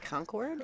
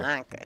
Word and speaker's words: Concord: I wanted to let everyone know, too, you are watching the 2024 Capital City Invitational here in, is it Concord?